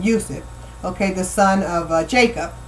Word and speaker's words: Yusuf: Yusuf, because that's his name in how you pronounce his name, literally pronounce his name, Yusuf.